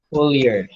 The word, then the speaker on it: Euler: Full year. Hambal sang sa YouTube. Full year. But Euler. Euler man siya pang pronounce.